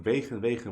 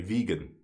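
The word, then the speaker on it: wegen: By the way, maybe you think vegan, what is that? Well, that's the Dutch pronunciation because he's Dutch. But maybe you would say vegan or vegan, right?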